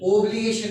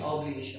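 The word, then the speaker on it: obligation: एंड आउट, ओ से प्रोनाउंसिएशन नहीं इसका, आउट, आ से आ, out, outburst and ऑब्लिगेशन, ओब्लिगेशन नहीं, ऑब्लिगेशन है।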